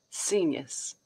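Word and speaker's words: scenius: teeth um Pro nunciation it's a blend of scene and genius genius seniors cool okay back to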